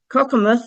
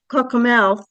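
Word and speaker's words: Cockermouth: Again, Cockamoth, even though it looks like Cockamouth is how they pronounce it in England.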